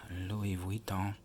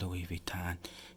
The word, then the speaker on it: Louis Vuitton: So this is Louis Vuitton, but most people pronounce it Louis Vuitton, and there's absolutely nothing wrong with that.